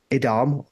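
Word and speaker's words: Edam: I think and I'm not going to say Adam Adam as they pronounce it over there but actually I I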